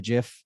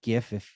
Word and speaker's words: GIF: You could add a description of what's happening in the GIF, or GIF if you pronounce it wrong, and just throwing fireballs at the end of this one, Ben.